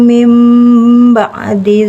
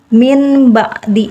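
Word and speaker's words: مِنْ بَعْدِ: Faman taba mim ba'di zulmihi. Jadi di sini dia bukannya min ba'di tapi jadi mim ba'di, tapi kita tahan 2 ketukan dibacanya ya.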